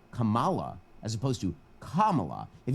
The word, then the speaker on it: Kamala: if you you son of a if you mispronounce Kamala Harris's name if you say Kamala as opposed to Kamala if you put the